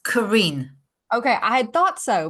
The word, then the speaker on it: Karin: oh so I forgot to ask you to pronounce your name for me it's Karen okay I had thought so but I wanted